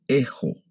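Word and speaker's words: ἔχω: Entonces vamos a leer ejo, ejis, eji, ejomen, ejete, ejusi.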